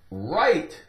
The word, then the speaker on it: right: W is silent in words that begin with WR.